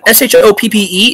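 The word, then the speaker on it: Shoppe: Okay, the Y-E is still pronounced the, and S-H-O-P-P-E is still pronounced shop.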